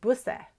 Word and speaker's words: Busse: A word wouldn't end with two S's. And so it would end with an E, and that would be pronounced busse.